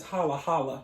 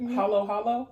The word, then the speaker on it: halo-halo: a third of this holla holla okay wait that's not it hollow hollow yes oh i said it